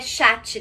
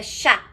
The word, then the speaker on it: chat: Não é chat também, tá? Gato é chá. Chá. Se pronuncia igual o nosso chá de tomar mesmo.